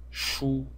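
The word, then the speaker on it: 殳: And then we have the right side, which is this element over here, which is pronounced shu, and its meaning probably is to launch arrows, and so the meaning together is to launch arrows with a bow.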